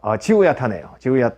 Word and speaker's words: Zihuatanejo: 지우야타네호. 호 했죠. 그 스페인어는 원래 이 J 발음이 흐 발음입니다. 그래서 지우야탄의 호 이렇게 돼 있죠. 그래서 지우 what 뭐라고 이렇게 이제 물어보니까 It's in Mexico. 지우야타네요.